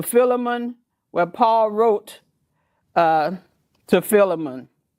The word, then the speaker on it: Philemon: And the last one we'll talk about is Philemon. Some pronounce it Philemon, but we go to Philemon, where Paul wrote to Philemon.